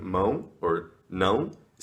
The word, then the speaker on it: mão: For instance, in terms of pronunciation, one sound that is really hard for foreigners to nail in Brazilian Portuguese is the ão. And many words end with ão. For example, hand, mão. Bread is pão.